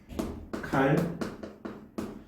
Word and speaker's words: 칼날: 칼날. 자, 우리 발음 얘를 어떻게 해요? 칼날. 이렇게 발음을 합니다. 자, 얘도 마찬가지. 표기와 발음을 비교를 해보면 니은이 리을로 교체가 됩니다. 자, 근데 얘는 뭐 때문에? 앞에 나오는 이 리을의 영향을 받았기 때문에. 자, 정리하면은 니은이 리을로 변하는